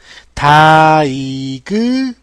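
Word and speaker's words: diagnose: 다이그노우스 라고 멋진 발음기호가 완성이 되었고요. 다이그노스 번터 발음. 자, 스펠링 볼게요. 됐죠? 여러분 이거 다이하고 이러지 마세요.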